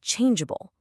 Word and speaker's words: changeable: The G is followed by an A, which would force it to have a hard G sound, changeable. To stop that from happening, we keep the silent E. It's acting like a little bodyguard, just to protect that soft J sound.